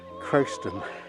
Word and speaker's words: Croxton: Well, this is South Croston Church, spelt South Croxton. Well, that's how it's phonetically how it looks, but the locals call it Croston.